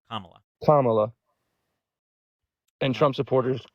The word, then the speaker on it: Kamala: It's like comma, like the punctuation, and then la, Kamala.